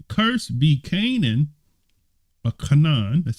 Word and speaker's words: Canaan: him and he said cursed be Canan a Canan that's how you say it a slave shall